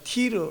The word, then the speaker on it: 티르: 60km쯤 저 북서쪽으로 걸어가면 지중해 연안에 두로, 오늘날 티르 이렇게 발음하면 돼.